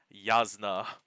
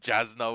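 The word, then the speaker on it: Jasnah: So for example, Yasna, she was Jasna when I was reading book one.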